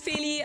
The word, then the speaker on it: Feli: My name is Phy.